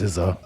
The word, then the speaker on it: SZA: in the car, and I call her Scissor. I overpronounce it, and then she cringes a little bit, and then I feel good. But I know it's SZA.